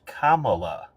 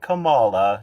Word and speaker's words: Kamala: question I'll start with the statement it is pronounced Kamala not Kamala no all that stuff it grinds my gears